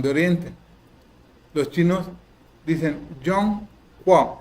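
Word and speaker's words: Zhongguo: Yongguo. Se escribe con ZH, pero se pronuncia como Y. Yongguo. La G se pronuncia como Q.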